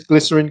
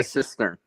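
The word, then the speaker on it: cistern: does this water uh sorry where does this glycerin come from oh the glycerin is a i'm mispronouncing sorry brain damage it's it starts with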